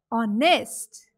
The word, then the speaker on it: honest: Similarly, H is silent in the word honest.